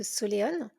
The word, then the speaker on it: Soléon: Bonjour Solène, tu es connue sous le pseudo de Soléone. Est-ce que déjà je le prononce bien?